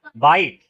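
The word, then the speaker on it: bite: अब देखो इसमें ये था बिट बी आई टी। इसलिए क्या पढ़ेंगे? बिट। अब इसमें ई लग जाएगा तो क्या हो जाएगा? बाइट।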